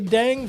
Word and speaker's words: dengue: So, but it's not spelled like what you would spell dang. It's DENGUE.